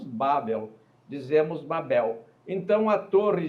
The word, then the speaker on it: Babel: a torre chamou-se Babel Babel e uma pronúncia portuguesa nós tendemos ao paroxítona não é nós não dizemos cavalo dizemos cavalo e não dizemos Babel dizer bom então a